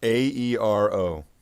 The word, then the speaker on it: Aero: How do you spell it? Aero. Ah, like air.